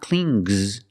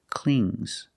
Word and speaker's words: cling: It's a soft G. Not clings, but clings. Example, the baby.